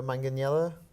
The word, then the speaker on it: Manganiello: Joe Manganiello?